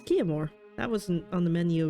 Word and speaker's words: Chiamour: I am Chiamour. Chiamour. That wasn't on the menu of thoughts of how to pronounce this, but okay.